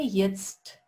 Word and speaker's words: jetzt: Обратите внимание, сочетание вот этих двух букв. Это буква J, а это буква E. И вместе они дают звук E.